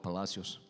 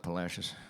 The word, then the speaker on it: Palacios: everything else, suggest that the town was once called Palacios. But nowadays, Texans call it Palacios. Kind of sort of rhymes with fascist if you think about it.